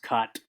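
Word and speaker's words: k'at: That's K apostrophe AT. I think that's pronounced cot.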